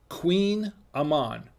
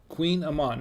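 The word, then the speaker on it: Kouign-amann: pronunciation here the pronunciation pronunciation it's called it's pronounced queen amman queen amman no and it's not a queen it's not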